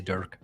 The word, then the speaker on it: Dirk: which one one dick but it's even for Germans it's like almost impossible to pronounce so it's okay just say Durk that's better than dick I might be a dick but my name is Durk I do apologize I'm